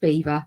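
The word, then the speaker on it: Belvoir: all laughed at me it's pronounced Beaver makes no sense to me but there you have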